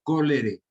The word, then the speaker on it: cholerae: Cholerae se escribe y se pronuncia cólere, que se ubica en el intestino del paciente.